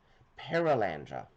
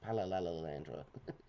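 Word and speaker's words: Perelandra: I'm trying to think of the name of the second book and I'm missing a syllable. Perilandra. Keep want to say Pallandra.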